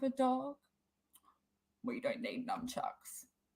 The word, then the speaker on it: nunchucks: dog we don't need nunchucks i'm saying it wrong aren't i it's not numb chucks oh thank you so